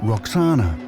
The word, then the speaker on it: Roxana: The Greeks pronounced it Roxana, but it may originally have been Vakshana, which would mean she belonged to the Vaku, an ancient name for the Oxus River.